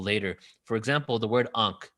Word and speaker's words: Ankh: So Ankh was actually pronounced Unk, N-K-H, not A-N-K-H, N-K-H, because the A, the vowel, wasn't introduced until later.